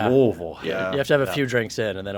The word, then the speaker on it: Louisville: You got to swallow it a little more. Louisville.